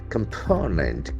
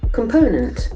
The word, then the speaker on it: component: got a hard sound component can see three syllables are there and the accent falls from the second syllable the first o will